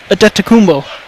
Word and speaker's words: Adetokunbo: Well, the first name, Adetokunbo. Giannis. Just like Giannis.